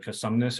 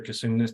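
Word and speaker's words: Cosumnes: Everything under predicted the precipitation especially around the Casumnes or Casumnes, depending on how you want to pronounce it, which is where we saw a levee break, which is again something that you can't really predict.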